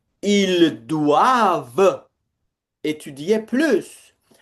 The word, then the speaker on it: doivent: Please do not pronounce this ENT at the end of the verbs. They are silent.